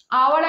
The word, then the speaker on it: hour: তো আওয়ারের আগে কি আর্টিকেল বসবে, অ্যান্ড বসবে, কারণ এইচ তো সাইলেন্ট বেঁচে ঘুমিয়ে পড়েছে, তো ওয়েস সাউন্ড আসছে, তাই অ্যান্ড বসেছে, এটা আমি আগেই বলে দিয়েছি, তাও একবার বলে দিচ্ছি।